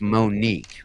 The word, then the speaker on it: Monique: It's believe it or not, that's not how her name is pronounced. It's Monique. But Oh my god!